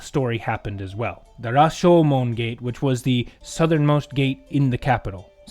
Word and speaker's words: Rashomon: may recognize that name, Rashomon, which I believe actually they pronounce it as Rajomon, which I won't get into the details, but it's basically the same thing.